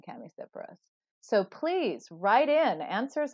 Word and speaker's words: Chamaecyparis: Well, I go with the hard CH, but there is a whole school of thought that there never was, that CH was never pronounced like that back in ancient times.